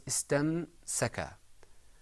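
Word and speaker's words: ٱسْتَمْسَكَ: It was istamsaka. The moment I finished pronouncing the meme, went straight into the scene.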